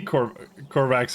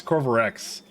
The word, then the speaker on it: Corvarex: You're not the Corvax, or is that... Oh no, it's Corvarex.